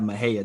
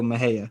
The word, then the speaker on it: Mexia: right like in Texas we have Maha Texas right and Maha is spelled Mexi a Mexia but they go Maha but opaka that's y'all